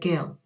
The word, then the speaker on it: Guille: Now, he did tell me how to pronounce his surname, and we agreed on a pronunciation, like there was a debate about it, and I think he said Gill.